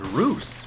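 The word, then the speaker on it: Roose: think his name was Roos, because technically, if you think about it, if Moose is spelled M-O-O-S-E and his name is spelled R-O-O-S-E, that would logically make his name Roos.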